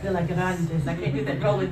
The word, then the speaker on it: Delagraentiss: So how do you pronounce it correctly? Delagraentiss. Delagraentiss.